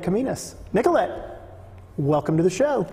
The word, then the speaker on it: Kominos: And it's Kominos. Kominos. Kominos. Yes. Wow. Okay. It's more like it rhymes Greek. With Dominos.